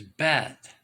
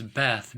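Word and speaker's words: בית: it looks like it's Beth b e T you can see right there that's the Hebrew character bet you don't pronounce H's in Hebrew I'm no expert by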